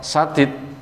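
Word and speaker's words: سديد: Sebab kata lafadz sadid pakai sin dan syadid pakai shin itu maknanya beda.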